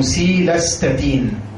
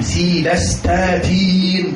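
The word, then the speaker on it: cilastatin: دواء هيتحفظ بقى ان شاء الله اسمه سيلاستاتين او سيلاستاتين، يعني للناس اللي بتحب النطق المدلع يعني. بس احنا بنحب النطق الايه الفخيم، سيلاستاتين كده يعني.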